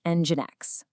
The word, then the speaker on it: NGINX: So first things first, it's pronounced NGINX.